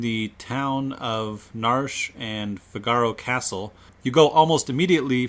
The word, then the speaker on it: Figaro: to the kingdom of Figaro yes we we pronounce it Figaro not figuro I've heard it pronounced that way we're not